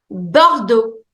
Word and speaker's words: Bordeaux: Bordeaux. Bordeaux. This is also a region in France. Bordeaux. But that's also a color. It means burgundy. Bordeaux. Bordeaux. Bordeaux. X is silent.